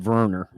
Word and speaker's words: Werner: may be thinking nah he's pronounced it Verner so like with a V he's German I believe